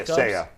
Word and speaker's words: Seiya: Yeah, Seiya. Say you, say me.